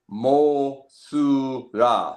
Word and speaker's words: Mothra: The actual pronunciation of the character is Mothra.